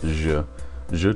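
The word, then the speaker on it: je: The J sound in French is the soft G sound in English. and J makes a soft G sound whether it comes in the middle of a word like in bonjour or in the beginning of a word like in ja.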